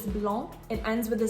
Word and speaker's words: blanc: A common word that is an exception is the word for white, which is blanc.